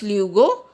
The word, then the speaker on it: luego: Guys, here you see, here we use G before O, it is pronounced as luego, and here we use G before E, it is pronounced as H.